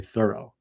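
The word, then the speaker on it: Thoreau: last syllable and uh there's evidence that he pronounced his name with an accent on the first syllable so it sounds like thorough like I was very thorough which he he was.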